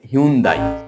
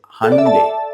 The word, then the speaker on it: Hyundai: ওয়াই ইউ এন ডি এ আই অনেকেই এটার উচ্চারণ করে হন্দাই আসলে এটার সঠিক উচ্চারণ হবে হান্ডে এইচ ওয়াই ইউ এন ডি এ আই হান্ডে